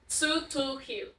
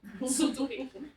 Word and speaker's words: Tz'utujil: How do you pronounce Tz'utujil? Tz'utujil. Tz'utujil.